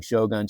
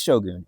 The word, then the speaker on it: shogun: and she said um I said it's Shogun and she's like oh shun. Yeah I know that one. And I was like so it is shogun. She's like yeah she said in Japanese it is exactly what I thought like they they pronounce it as shogun.